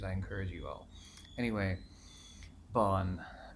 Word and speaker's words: Bön: encourage you all anyway bond be oh but it's the Oh with the two dots on the top and and it's like pronounced and Bolin almost like be you Ahn and it is I